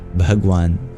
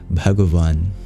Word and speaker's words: bhagavan: our English W wa so in Hindi you would pronounce the Sanskrit word bhagan but with proper pronunciation it is bhagavan the same word and